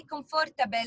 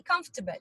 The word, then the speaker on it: comfortable: on by the way when you say comfortable the r is silent you don't say comfortable it's wrong you say comfortable so excellent maya more